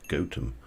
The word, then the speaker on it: Gotham: in nottingham we uh we have a place that's actually spelt gotham but the locals insist that it is pronounced gotem um they hate it